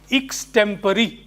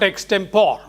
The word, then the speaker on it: extempore: It should be pronounced as extempore. It's not extempore.